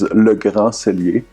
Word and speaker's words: Le Grand Cellier: So how we pronounce the business name in French is Le Grand Cellier, which translates to it can be like grand can have different meanings in French.